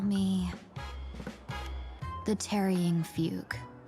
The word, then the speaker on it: Fugue: Just call me the Trying Fug. Fugue. So it's pronounced fugue then.